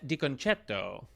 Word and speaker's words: DiConcetto: All right, today we are joined by DiConcetto, which is the proper Italian pronunciation we just discussed.